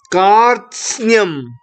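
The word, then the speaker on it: कार्त्स्न्यम्: Kartsnyam.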